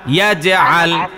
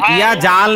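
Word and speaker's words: يجعل: নিচে জের চলে আসে এই ভুলটা যাতে না হয় তাহলে উচ্চারণ এরকম হবে আলাম ইয়াজে উচ্চারণ শেষ হয়েছে এরপরে আল বলবেন তাহলে উচ্চারণ ঠিক থাকবে আমারটা শোনেন 2-3 বার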